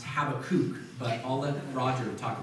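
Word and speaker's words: Habakkuk: um and it's on the prophet habac um or it's probably better pronounced habakuk but I'll let Roger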